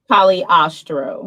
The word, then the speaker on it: Cagliostro: Cagliostro? Cagliostro.